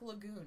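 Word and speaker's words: Laguz: pronounce Lago okay um it's like Lagoon except Lago who call you that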